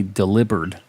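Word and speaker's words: Delibird: nobody's talked about is Delhi bird which apparently in the anime they say delivered like delivered with a B and I never never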